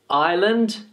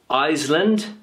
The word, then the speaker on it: island: s so Island so remember that the S is silent island island island okay Island the is no s sound it's not iseland it's not Island it's